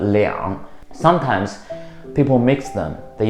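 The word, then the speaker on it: 两: Also, there's another pronunciation, it's called liang.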